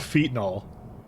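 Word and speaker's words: phenol: is fol it's it's it's actually called fol that's that's actually how you pronounce it and so we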